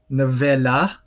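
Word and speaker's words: נְבֵלָה: So you have nevela, so ne-ve-la.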